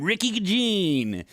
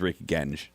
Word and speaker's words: Rick Genge: He calls him Ricky Gene. And then I come in afterwards and I'm like, yeah, thanks to Rick Genji. And then, as you heard, Rick pronounce his name. His name is Rick Genge.